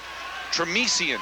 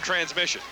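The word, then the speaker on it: Tramission: SS i o n tresan is how it's pronounced but that's not how Don sha says it he said he calls him transmission he does first and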